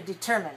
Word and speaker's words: determine: Let's go back to determine. What do you hear for determine? Determine. 3-2. Okay, 3-2. All right, and contingency.